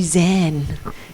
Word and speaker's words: Zen: Zen actually is a Japanese pronunciation for Chan.